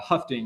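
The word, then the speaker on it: Hoeffding: inequality uh the uh a German name right here can be uh hard to pronounce uh these these different uh uh terms some of them that we'll be seeing um but uh huting is how uh how we pronounce it and in the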